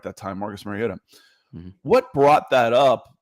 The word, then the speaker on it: Mariota: What did and I said it right that time, Marcus Mariota.